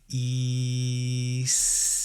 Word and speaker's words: Isis: Mantra is pronounced like e C okay so you you elongate every uh single letter you can do it